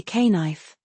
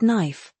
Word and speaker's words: knife: You don't say k knife. It's just knife with a silent K.